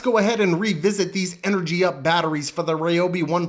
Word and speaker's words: Energup: Energup. Energup. Energup. Yeah, that's right. I said the name wrong a bunch of times. People left comments. They were pissed off about it. Sorry, it's Energy Up.